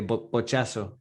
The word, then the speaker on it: bochazo: Okay, bochazo it would be in Argentina. Bochazo. But is there a tilde? No. No tiene tilde. No, there's no tilde, no. Bochazo porque es una llana que acaba en vocal.